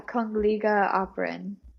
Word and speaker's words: Kungliga Operan: Yeah, Kungliga Operan, which Okay.